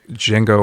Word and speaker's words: Django: the hateful eight and jingo unchained the d is silent um yeah you're welcome so what i love about the django unchained i think it's